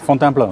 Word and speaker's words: Fontainebleau: Tomorrow morning I'm leaving for Fontainebleau, is that it? How do you say it? Fontainebleau, yeah.